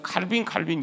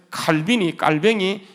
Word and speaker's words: 깔뱅: 그래서 우리는 칼빈 얘기하지만 원래 이제 불어 발음으로 깔뱅이거든요. 그래서 깔뱅이 이게 그리스로 제네바로 가게 돼요.